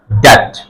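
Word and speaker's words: debt: বি এর পরে টি আছে, বি সাইলেন্ট হয়ে যাবে। ডি ই বি টি ড্যাট ড্যাট ড্যাট।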